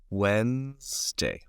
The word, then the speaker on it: Wednesday: careful the pronunciation is Wednesday Wednesday it's like this okay the pronunciation is like this Wednesday but the spelling is not the same this is the spelling